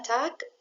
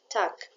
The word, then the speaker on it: Tag: جوتن تاك جوتن تاك وقلنا تاك والجي لما بتيجي في اخر الكلمه بتنطق شويه شبه الكي تاك بعد كده جوتن ابند